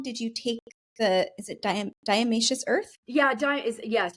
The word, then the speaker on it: diatomaceous earth: I'm just curious, how long did you take is it diatomaceous earth? Yeah, yes, diatomaceous earth is how you pronounce it exactly.